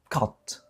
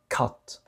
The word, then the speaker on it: cut: لاحظوا الكلمة التالية، هذه تنطق cat، cat، القط، cut، cut، cat، cut، cat، cut.